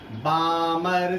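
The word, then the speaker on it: Balmer: हम लोग बोलते हैं बाल्मर सीरीज। बाल्मर लिखते बाल्मर है बट एल साइलेंट होता है, इसको हम लोग बोलते हैं बाल्मर सीरीज।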